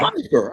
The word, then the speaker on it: Pyfer: myself leave knower like P like pie in the sky Piper I thought I said Piper and do you hear us Piper I can hear you